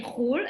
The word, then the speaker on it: חול: So for example, we say khul, abroad. Khul is the abbreviation for chutz la'aretz.